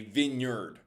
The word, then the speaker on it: vineyard: They passed through these vineyards. I believe remember wine. We have the drink wine and we have where we grow grapes a vineyard. So different pronunciation vineyard.